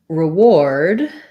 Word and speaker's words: reward: and forward so for reward even though these have similar spelling the last last four letters are the same in reward the ward is stressed so my re is